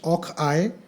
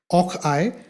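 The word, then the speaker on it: och aye: time, including the Scottish Och-I. I hope I'm pronouncing it right. It's O-C-H-A-Y-E. I is how they say yes, Yes. right? Och-I, or meaning oh yes.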